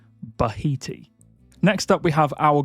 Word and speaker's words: Bahiti: from Egyptian or possibly even Swahili roots, but pronunciation-wise, it's fairly straightforward. It is Bahiti. Bahiti.